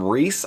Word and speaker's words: RZE: So RZE originally launched under the name Reise, I think it's pronounced, with a field sports watch, a very cool titanium fixed bezel watch.